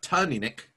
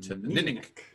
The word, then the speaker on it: Teaninich: again - nunik yes accent on the second syllable but so it's not Tom Enoch and it's not Jenny Nick it's too minik minik Ossus on the solution